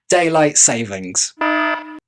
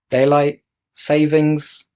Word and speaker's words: Daylight Saving: don't need that so daylight savings Daylight Savings Time Daylight Saving okay so it turns out it's pronounced Daylight Saving singular hey what did I